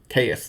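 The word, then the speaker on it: Caius: decided it's not chaos I think the community has just decided that it's kais but I think it could be chaos chaus the shadow Monarch that's how you say it actually he a lure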